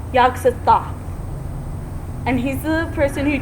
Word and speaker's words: Yog-Sothoth: Speaking of that, There's that name, the yogurt or yoga south or yoga. It's pronounced Yog-Sothoth.